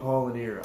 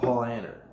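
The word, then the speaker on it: Paulaner: But I used to call him Paul Lanier. I'm saying it wrong again. It's called Paul Anner. At least from the more credible sources I've heard it from. Me, I call it Paul Lanier, and it's definitely not even spelled Paul Lanier. It's spelled Paul Anner.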